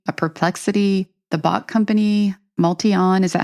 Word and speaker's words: MultiOn: Elon Musk's company, a Perplexity, the bot company, Multion, is that how it's pronounced? Multion, yeah.